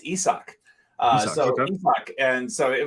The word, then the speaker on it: Isaac: correct name pronunciations esau i only know this from the broadcast so i've always called him isaac no it's isak uh so and so